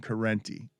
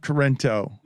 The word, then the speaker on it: Corrente: We're the Law and Order show now, and I want to talk about this this clown Corrente. Not Corrento, as Stugotz likes to call it, while fining me thousands of dollars for mispronunciations.